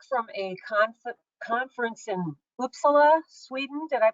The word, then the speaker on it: Uppsala: she's freshly back from a concert conference in uppsala Sweden did I pronounce that correctly yeah uppsala everything has a different emphasis Yeah a different